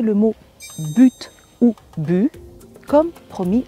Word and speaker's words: but: cette habitude mais attention quand par exemple j'utilise le mot bu dans une phrase avec un mot qui suit et qui commence par une voyelle ou par un H mué là je vais le prononcer le T par exemple dans l'expression de but en blanc qui veut dire brusquement on le prononce le t en fait ce sont